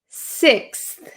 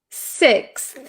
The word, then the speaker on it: sixth: Do you see how my tongue just a little bit it appears for just a second? So, I don't say six. I don't I don't overexaggerate the th. So, be careful of that.